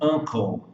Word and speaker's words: uncle: Agora, no caso do uncle e no caso de university, por que aqui o U tem som de A e aqui tem som de U?